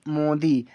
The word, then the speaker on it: Modi: MODI, इसे पढ़ेंगे हम मोदी। एम से माँ, ओ से ओ की मात्रा, अब डी से दा, आई से बड़ी की मात्रा, हुआ मोदी।